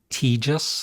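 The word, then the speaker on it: Tejas: all right ZZ Top teis I believe is how you pronounce it that's a I really like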